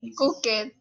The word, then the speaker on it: cooked: Es como si pronuncia la cook, pero terminaría en una T, ¿de acuerdo?